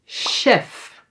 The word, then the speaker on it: chef: So, here it is pronounced as a g, but in some words when it starts with the c h, say "ha", it is pronounced as how it would be pronounced in the original language.